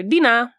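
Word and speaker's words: dinar: Basically, yeah, Dina. Dina. It's kind of a bit more like a a sound at the end. It's literally spelled D I N A. So, dinina.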